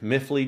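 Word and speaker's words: MiFly: you see miffly drone it's spelled myfly mi separate word fly i call it miffly drone because they used to make it as one word m-i-f-l-y and i've always just called it miffly drone but i'd have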